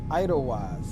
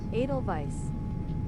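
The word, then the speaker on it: Edelweiss: Idlewise, how do you pronounce this dag on call sign?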